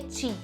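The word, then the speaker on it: qi: para cá pro português ele se escreve q mas se fala ti se pronuncia ti energia então é espaço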